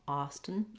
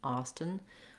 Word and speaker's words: Austin: vowel there at all austin austin we do say this t sound let the air out of that t sound um so we have